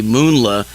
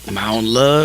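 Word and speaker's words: Mounla: came to me because my last name is actually moonla but it spelled really weird and nobody could ever figure out how to pronounce it because it's m-o-u-n-l-a so they would be like maola or you know and i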